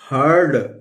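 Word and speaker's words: heard: इसी तरह दोस्तों लिखा हुआ है ह लिख लेंगे, ह अ प्रोनाउंस हो रहा है, ई को हम अ प्रोनाउंस करेंगे और यहां ऊपर र लगा देंगे और लिख देंगे, तो क्या हो गया हर्ड।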